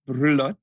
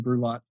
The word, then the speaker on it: Brulotte: So it's a French last name, and so it's pronounced Brulotte in French. So Brulotte. But if in English, it's fine, Brulotte.